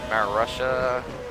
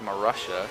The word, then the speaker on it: Marussia: for Maria car Marussia it's pronounced Marussia Maria I would think it's Mor Russia it says Russia in the name I never paid much